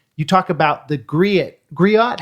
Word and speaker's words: griot: talk about the gri griot how do you say that word Grio is how I've always heard it yeah Grio gri yeah